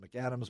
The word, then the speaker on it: McCadams: right we pronounce it McAdams but that's the way it is MC capital C a DA m/s McAdams and we always have